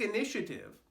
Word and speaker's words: initiative: Mind the ending V sound. It's not initiative. There's no U, no vowel on the end here.